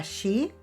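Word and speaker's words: 四: Y por cierto, si hablas con un japonés, evita pronunciar el número 4, que se pronuncia shi, ya que suena igual que la palabra muerte, y ellos son muy supersticiosos.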